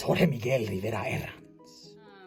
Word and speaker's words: Jorge Miguel Rivera Herranz: It's Jorge Miguel Rivera Herranz.